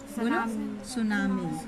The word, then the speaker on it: सुनामी: सुनामी कौन सा होगा? सुनामी। सुनामी। सुनामी। टी से होता है सुनामी। टी साइलेंट होते हैं और टी से सुनामी लिखा आता है।